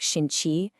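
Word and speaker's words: 心气: It's called Xin-Qi, that's pronounced like Shin-Qi, and it basically means heart ki or heart energy.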